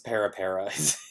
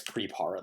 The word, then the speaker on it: Pirpara: So, I guess Pirpara, that's what it's pronounced. I always say Pirpara just because I don't read correctly.